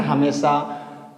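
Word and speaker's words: hymn: लेकिन यहां पे एक कंडीशन है कि एन हमेशा वर्ड के लास्ट में होना चाहिए। एक बार मेरी बात समझने का फिर से प्रयास करेंगे कि एम के बाद अगर एन आएगा तो एन को हम साइलेंट करेंगे।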